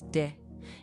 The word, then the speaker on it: de: Next word is de. In Brazilian Portuguese, it usually sounds like a soft G. Very light, almost like it slides into the next word.